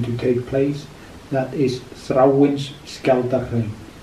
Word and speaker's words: Þráinsskjaldarhraun: That is Þráinsskjaldarhraun. Þráinsskjaldarhraun. Þráinsskjaldarhraun.